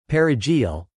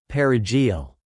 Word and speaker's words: perejil: One way Trujillo's soldiers identified Haitians was by asking them to pronounce the Spanish word perejil, parsley. Those who couldn't roll the R in the Spanish way were presumed to be Haitian Creole speakers and were killed.